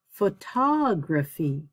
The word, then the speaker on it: photography: emotional emotional educational uh one that i find interesting because people always make mistakes with it is graphy or oh graphy it should be really let's see if i can change that oh graphy uh so i would say photography autobiography but i say the word photograph photograph the stresses on